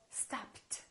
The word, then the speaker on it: stopped: is a voiceless consonant if the last letter of the verb is a voiceless consonant the Ed becomes a t so stopped so this is the